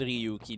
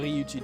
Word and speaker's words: Ryuji: Because he just overheard Ryuki doing that.